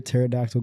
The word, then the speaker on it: pterodactyl: Why can't you hear a pterodactyl go to the bathroom? Why? The P is silent.